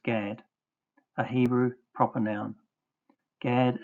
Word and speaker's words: Gad: H1410 gimmel dalot pronounced with the vow a as in father equals gad a Hebrew proper noun.